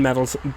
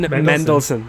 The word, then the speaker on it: Mendelsohn: like talos is a very funny character ben meddles ben meldon i can't say his name ben mel ben what is it ben met meddleson m-e-n-d-e-l-s-o-n ben mendelsohn there we go ben mendelsohn is a very